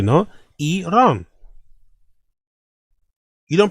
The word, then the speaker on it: Iran: Iran. You don't pronounce a I like an like an I. You pronounce like an E.